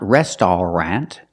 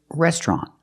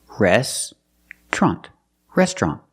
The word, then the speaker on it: restaurant: this word it's not restaurant it's restaurant we don't pronounce it with three syllables we pronounce it with two syllables restrant restaurant we put the TR